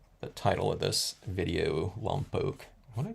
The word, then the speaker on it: Lompoc: title of this video lump pooke what I call it lump Oak memories or something I don't know and that's the long o by the way people don't like L poock but that's how everyone